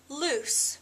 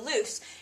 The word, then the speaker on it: loose: in it is pronounced loose you don't say the Z you say it like s so loose and this would be